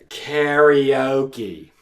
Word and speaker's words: karaoke: Now, one trade-off of having lived in Japan and studied Japanese for so long is that I can't pronounce Japanese words in American English anymore. Let me try again with that one. Karaoke. Okay, that's all you get. It's koke from now on.